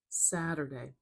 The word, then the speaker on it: Saturday: Saturday. We have three vowel sounds, a, a. So we have three syllables. And I have to place the primary stress. Let's put it at the beginning.